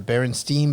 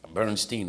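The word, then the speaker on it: Berenstain: It was like, what was it, the Berenstein Bears or the Berenstein Bears? Oh, Was it Berenstein or Berenstein? Bernstein, I think.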